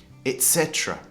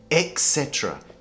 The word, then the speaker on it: etc.: Etc. Etc. So a lot of people make the mistake, they say etc. EX, it sounds like etc. But it should be pronounced etc.